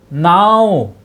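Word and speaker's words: gnaw: 또 now, 이 쥐는 이제 발음이 안 납니다. 그래서 now라고 하는데 물어뜯다, 갉아먹다.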